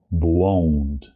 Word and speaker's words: błąd: The word or the sound on, you maybe know or recognize it from a French word, for example, croissant, croissant, croissant, on. They always do the on sound at the end. Here we have it also, so it's błąd, błąd, błąd, mój błąd.